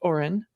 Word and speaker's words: Orion: we learned that gm's oren facility it's spelt orion but i have it on good authority it's pronounced oren i sometimes do get